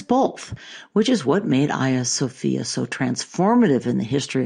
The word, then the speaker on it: Hagia Sophia: So for nearly 1,000 years, Hagia Sophia, that by the way is the Greek pronunciation, was the largest cathedral in the world.